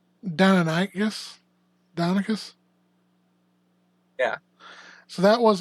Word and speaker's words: Deinonychus: It's Deinonychus? Deinonychus? Yeah. So that was a raptor. Yeah. Are you talking about Jurassic Park, the 6-foot turkey? I mean, I guess. Yeah, that's Deinonychus or Deinonychus, depending on how you say it.